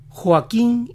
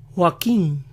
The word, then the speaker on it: Joaquín: acento a joaquín ellos pronuncian las cuotas de esos nombres tan suaves al estilo de su h que muchas veces ni se oye así joaquín joaquín juan juan así que